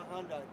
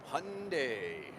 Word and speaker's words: Hyundai: Go to Hyundai. Hyundai rhymes with Sunday. And don't call it Hyundai, please.